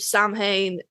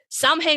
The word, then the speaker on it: Samhain: Samhain, pronunciation dependent on, like, Irish, Scottish, Gaelic. It's a Gaelic holiday.